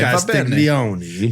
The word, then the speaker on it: Castiglione: Castiglione. That was the best pronunciation I've ever heard you deliver, Ryan Shield.